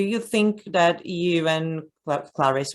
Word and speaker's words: Clarice: You, I don't know, do you think that you and Clarice or Clarissy, I'm still not sure how to pronounce her name. They you have say something Clarissy. Okay, Clarissy, okay.